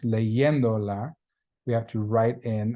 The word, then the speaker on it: leyéndola: So to show that it's not leyendola, it's still pronounced leyéndola, we have to write in an accent mark on that third from the end syllable.